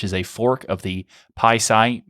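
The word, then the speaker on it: PiSi: a fork of the pisci package manager i think you're supposed to say it like that anyway that's the one used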